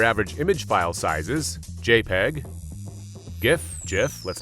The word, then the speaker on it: GIF: right i get it the inventor says jif as in jiffy it lives in a jiffy blah blah blah blah but it's not pronounced graphic interchange format so i kind of think it's gif anyway while considering this